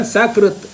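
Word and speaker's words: सकृत्: Sa and Sha, just you change it, the meaning totally changes. Then Sakrit, Shakrit.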